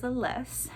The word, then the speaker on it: Aless: One of our main characters' name is Aless, and I did not know how to pronounce it until I listened to the audiobook, but it is Aless.